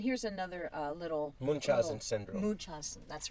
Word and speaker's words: Munchausen: Munchausen.